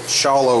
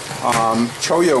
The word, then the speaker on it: Cholla: I was corrected on my pronunciation. I called it Cholla wood. You can tell I'm from the northeast. Cholla wood It's the wood of a cactus, the